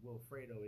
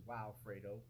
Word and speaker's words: Wilfredo: And, you know, me being the oldest rebellious teenager in history, I changed the pronunciation to my name. Instead of Wilfredo, it's Wildfredo. And instead of